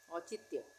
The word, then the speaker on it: औचित्य: अब है औचित्य, और उसके बाद चित्य, आधे तक का उच्चारण हो रहा है तो आधा तक बनेगा चित्य, औचित्य।